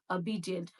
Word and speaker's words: obedient: It is not obedient, it is obedient, obedient. O sound goes like obedient, obedient.